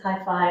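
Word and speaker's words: hyphae: You can pronounce it hi-fi or um hi.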